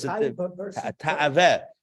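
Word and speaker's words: תאווה: 412 also happens to be the same numerology as the Hebrew word Ta'aveh. Taiveh, as we would say it in Hasidic pronunciation.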